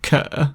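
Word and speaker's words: 可: The water on the left side gives the meaning shui, but the sound component in Mandarin is pronounced ke.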